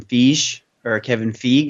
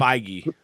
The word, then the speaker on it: Feige: charge, similar to how Marvel did with Kevin Feige. I'm not sure how you pronounce his last name. Feige.